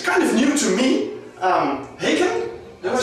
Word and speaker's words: Haken: Haken?